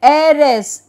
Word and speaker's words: heiress: is pronounced as A, then heiress, E-H-E-I-R-E-S-S, heiress, it is not E-R-E-S or E-R-S, nothing, it is A, so H-E-I-R-E-S-S, heiress, then